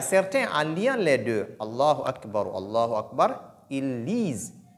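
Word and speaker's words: الله أكبر: Mais lorsqu'on ne marque pas de pause entre les deux, la deuxième, c'est-à-dire la Hamza qui est au niveau du deuxième Allah, n'est pas lu, n'est pas prononcé. On dit donc Allahu Akbar, Allahu Akbar. Alors, on dit Allahu Akbar. Allahu Akbar, Allahu Akbar. C'est ce qui est correct.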